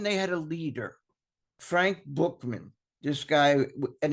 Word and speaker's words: Buchman: Like, for one, they had a leader, Frank Bookman. This guy, and it's spelled Buchman, and I know that sounds like it could be Buckman, but it's pronounced Bookman.